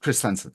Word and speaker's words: Christensen: Christensen, is that how your Yeah, name's pronounced? Christensen.